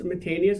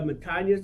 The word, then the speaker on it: Matanias: You said Matanias, it's Matanias, the same, very close. I mean, I think the Matanias, the way you said it, is the Greek way to say it.